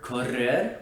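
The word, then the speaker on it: correr: many many many others the other sound that corresponds to the r is the trilled or rolled r often represented by a double r in spanish orthography words that include this sound are korrer which means to ron and agarrar which means to grab and this sound is made in a similar fashion by putting your tongue against the roof of your mouth but instead of just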